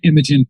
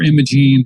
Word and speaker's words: Imogen: She's played by Imogen Poots, or Imogen, however you want to pronounce it.